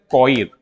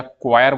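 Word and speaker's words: coir: है ना उसको बोलते हैं कोइर या क्वायर बोलते हैं इंग्लिश में हिंदी में मतलब इंग्लिश में ही कहते हैं लेकिन अगर हिंदी में लिखे जाए तो कुछ इस प्रकार से होता है क्वायर स्पेलिंग वाइज देखे तो क्वायर ठीक है ये किसकी हम बात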